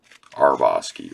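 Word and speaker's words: Hrabosky: I think I said it with an H, and it's the H is silent. Harbosky, right?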